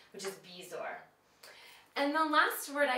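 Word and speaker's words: bezoar: of the Z but it actually is pronounced the way it's spelled which is bizor and the last word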